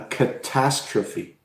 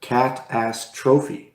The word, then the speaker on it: catastrophe: is a catastrophe mm-hmm if we pronounce it if we have the wrong stress then we could say cat pass trophy mm-hmm which is a completely different and and so the stress becomes extremely important in English we have